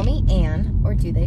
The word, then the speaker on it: Anne: too in there so i spell my name a-n-n-e which is pronounced anne but a lot of